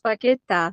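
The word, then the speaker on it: Paquetá: The name, I'm going to get Google to tell you how this pronounced. It's Lucas Paqueta.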